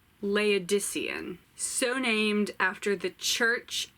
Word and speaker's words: Laodicean: Okay, and then the last audiobook that I got through was A Laodicean by Thomas Hardy. I said it wrong. Laodicean.